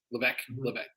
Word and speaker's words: Levesque: Levesque. I got to keep remembering to pronounce not the S of that name.